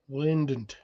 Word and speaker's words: Lind: it sounds like lint Lind that's it the D is silent so you were right